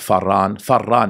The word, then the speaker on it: Paran: It's pronounced Faran, meaning the two who fled, right?